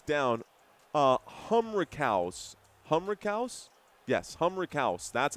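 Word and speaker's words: Humrichous: Humriaus. That's how it's pronounced. Waggler Stoyakovich. Humric. Humouse. Humouse. Humriaus. I know it's a ch, but I listened to it before this game started.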